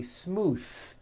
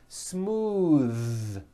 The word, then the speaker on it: smooth: ends of words smooth believe it or not the th sound in smooth is voiced most barn speakers say this word incorrectly they say smooth with an unvoiced th but it's voiced smooth bathe the word bath